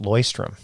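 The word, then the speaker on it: Leuchtturm: By the way, I learned that that's it's pronounced loystrom.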